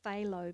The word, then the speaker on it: phthalo: using my primary blue which is pronounced phthalo blue silent PE remember the wetter the